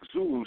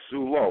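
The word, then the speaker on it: Zullo: And when Mike Zulu stepped out, Mike Zulo, I have to watch my pronunciation of Zulu.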